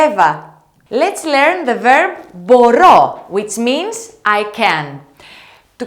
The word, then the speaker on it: μπορώ: Let's learn the verb μπορώ, which means I can. To conjugate this verb, let's make sure that we stress the last syllable of the verb. Let's have a look. Μπορώ, μπορείς, μπορεί, μπορούμε, μπορείτε, μπορούν.